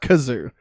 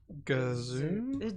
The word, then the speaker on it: Gazoo: or Mr mixer or because it's not kazoo because kazoo is like the it's not that I think it's with a G great Gazoo didn't Martin Short play